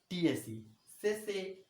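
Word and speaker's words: tsetse: particular insect is says tse says remember t silent t s e t s e that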